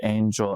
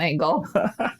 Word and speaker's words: angel: So the word angel, as it's known in English. I said not angle. Angel.